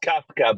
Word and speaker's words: Kawka: We got Kawka, if I'm pronouncing your last name right. How do you pronounce it? It's Kafka, but that's pretty good.